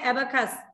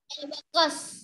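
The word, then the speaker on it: abacus: করে বলো এটা হবে অ্যাবাকাস অ্যাবাকাস হ্যাঁ অ্যাবাকাস অ্যাবাকাস সি ও এস না সি ইউ এস ইউর উচ্চারণ শর্ট আ শর্ট আ অ্যাবাকাস ঠিক আছে অ্যাবাকাস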